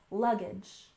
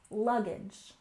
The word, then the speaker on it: luggage: and finally we have luggage we stress the first syllable luggage luggage one more time luggage